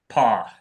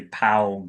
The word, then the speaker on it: Paugh: P. It sounds Yeah, it sounds just like an animal's foot, but it's spelled differently. So, like it looks like you'd say pa or something, but it's that's how it's pronounced.